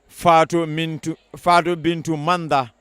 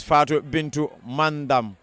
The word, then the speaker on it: Fatou Bintu Manda: And we just been told that the Guinean custodian, that's the goalkeeper's name, is Fatou Bintu Manda instead of Almanda. Nandiha Almanda we've been pronouncing is Fatou Bintu Mandam.